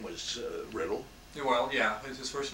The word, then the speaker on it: Riddell: why we call ourselves Redell know the name in scotland is pronounced riddle that's what you've been